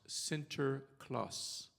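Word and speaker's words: Sinterklaas: and needy and in Dutch his name is pronounced Center Claus which is where Santa Claus comes from so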